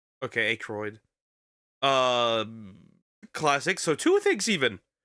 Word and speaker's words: Aykroyd: Pronounced Aykroyd. Okay, Aykroyd.